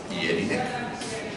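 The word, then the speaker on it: Jellinek: Esta letra en alemán se pronuncia como una I, no como una Y. Es Jelinek, es Ja, es Johann, es Januar, pero no Januar ni Johann Sebastian.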